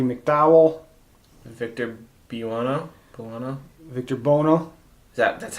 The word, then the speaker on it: Victor Buono: in it roddy mcdowall victor be Lana no Victor Buono that's how you say his name Bono was